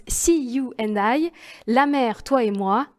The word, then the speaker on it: SEAYOUANDI: la créatrice d'une marque qui se prononce see you and I la mère toi et